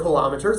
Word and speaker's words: kilometers: There we go, or kilometers, emphasis on the second syllable.